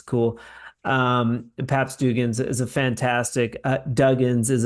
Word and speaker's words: Duggins: You're Paps Dugan. yes, sir. Is There it you go. Dugan or Dugans? Duggins. Duggins.